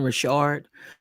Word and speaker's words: Rashard: if anybody goes back, I'm calling her Don Richard throughout the whole thing. I didn't know um her name was to be pronounced Rashard. Wonder if that's real or did she just start pronouncing Richard as Rashard? But anyway, it's Don Rashard.